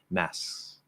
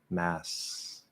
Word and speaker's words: masks: Or you can do it very light, like a true half K, masks, masks. So there's a little movement with the back of the tongue. Anything in there is fine. But again, the actual full K sound would probably be more the slower enunciated speed.